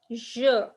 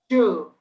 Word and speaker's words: je: So we say je. Jew.